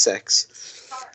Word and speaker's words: CeX: They're called Sex, believe it or not, CEX. Okay. It's pronounced Sex.